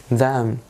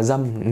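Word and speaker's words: them: Và tân ngữ của they là Giảm, giảm. Đây là một trong những âm khó các em lưu ý này. Giảm, giảm. Đặt lưỡi giữa răng rung. Giảm, giảm. Rất nhiều bạn đọc là dâm.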